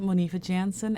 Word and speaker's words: Monifa Jansen: L and C let's get it and I'm Monifa Jansen m o n IFA J Ann on all